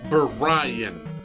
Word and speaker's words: Brian: calling you be Ryan Oh Brian Brian there are two syllables in my name Brian and I mean